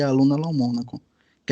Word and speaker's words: Lomonaco: Então, muito obrigada, Vitor, pelo convite e por pronunciar meu sobrenome corretamente, pois todo brasileiro pensa que é Lomonaco, pois não tem o acento, mas de fato é Lomônaco.